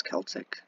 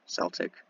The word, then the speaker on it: Celtic: SS Celtic, Celtic, you know, whatever. Whichever way you want to pronounce it, the American way or British way.